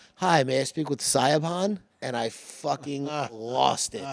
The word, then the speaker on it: Siobhan: I go, Siobhan.